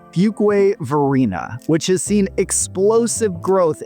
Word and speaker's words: Fuquay-Varina: Next up at number four, we have everyone's favorite city to pronounce, Fugway Verina, which has seen explosive growth in the past decade.